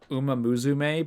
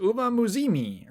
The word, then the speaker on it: Uma Musume: The only reason I know about Best Mobile Game is because there's a clip of Jeff Keighley saying Uma Musume, but he says Uma Muzimi or something. It's weird.